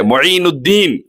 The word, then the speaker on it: معین الدین: مینو بھائی بھی بولتے بہت سے لوگوں کو, معین الدین بھائی بولتے. معین الدین غریب نواز کا نام ہے, صحیح طریقے سے اس کا تلفظ ادا کرنا چاہیے.